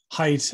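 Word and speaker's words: Haidt: you know the scholar jonathan height i think is how you pronounce his name h-a-i-d-t he and greg lukianov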